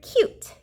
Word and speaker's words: cute: But when we add that silent E at the end, The U will now say its name. What's the new word? Cute. Cute like a baby.